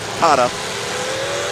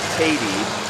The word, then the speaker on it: Katie: He says everyone says his name wrong. His buddies, they call him Tada, but it's actually Katie, Eric Katie.